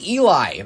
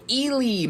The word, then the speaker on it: Ely: I've heard it both ways at E L Y. I always pronounced it Eli, Minnesota and some people are, you know, they're a little more they say intense with it. They go Eely, Minnesota. I just that doesn't sound right to me.